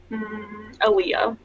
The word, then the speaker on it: Aaliyah: Aaliyah. Aaliyah. How do you spell that? Alleeah. So like Leah, but with all at the start.